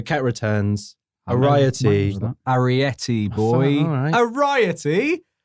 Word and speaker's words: Arietty: Mine Ariety. was that. Ariety, boy. All right. Ariety? Variety? Okay, it's spelled Arietty.